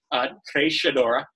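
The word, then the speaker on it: Treixadura: Trishadura, for those of you that are playing along at home, that is the pronunciation, Trishadura.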